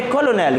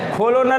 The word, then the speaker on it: colonel: और इसका प्रोनाउंसिएशन है कॉलोनेल। क्या है? कॉलोनल नहीं, कॉलोनेल।